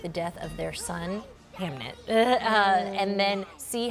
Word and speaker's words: Hamnet: Hamnet. Yes. Hamnet. Am I saying it right? You are, but I know. was like, Hamlet? No, Hamnet.